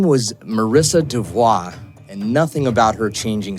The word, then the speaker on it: DeVault: So, Marissa DeVault, um it's spelled d e v a u l t. Yeah, a lot of people think Marissa DeVault, but but it's pronounced DeVault.